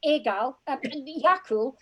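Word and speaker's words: Eagal: The dog is called Yakul. Yakul is spelled Egal, E-A-G-A-L.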